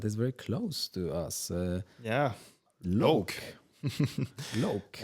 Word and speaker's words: Loake: Loake. Loake. And you shouldn't pronounce it Loake. Loake. Loake. It's Loake because it's a surname.